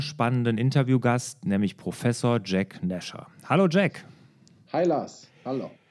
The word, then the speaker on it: Nasher: oder ist es eher Nasher? Nasher. Okay. Eigentlich Nasher, ja, ist nämlich eigentlich kurioserweise ein afghanischer Name und wird Nasher ausgesprochen, aber Nasher kommt der Sache schon sehr nah.